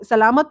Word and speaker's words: salamat: Salamat po is, I think, very, very easy. Because it's salamat. It's just three words. Not three words, three syllables.